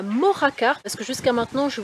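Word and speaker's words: Mojácar: on y va donc nous voilà arrivés à mojacar parce que jusqu'à maintenant je vous disais mojacar mais le gie se prononcèrent ici j'avais complètement zappé donc c'est une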